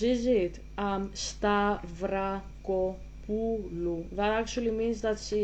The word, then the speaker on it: Stavrakopoulou: So her name is pronounced Stavrakopoulou. Okay. So all together, Stavrakopoulou. That's how you say it. It's not that difficult. It's not that difficult once you learn a little bit about Greek pronunciation.